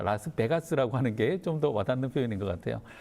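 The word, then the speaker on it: 라스베가스: 미국 라스베거스에서 시작을 했습니다네 발음은 라스베이거스가 아니라 라스 베가스라운지 분들이 좀다 다 그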